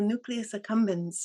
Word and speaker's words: nucleus accumbens: Hmm, I'm not pronouncing this right. Nucleus accumbens power. Yeah, the nucleus accumbens.